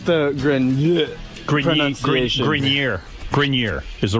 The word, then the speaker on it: Grenier: It's actually Grineer.